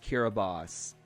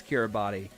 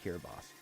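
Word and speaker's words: Kiribati: actually like right uh God Bush it's actually pronounced kiraboss East Mountain films said that pronunciation on this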